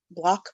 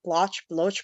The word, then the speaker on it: Bloch: on a whim robert bloch had block blotch bloch however bloch is supposed to be pronounced and had written a